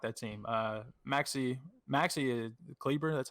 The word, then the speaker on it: Kleber: Maxi Kleber. That's how you say his last name, right? Every time I hear it on the air, it's like Kleba.